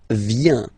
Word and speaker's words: viens: First form, je viens, final S not pronounced.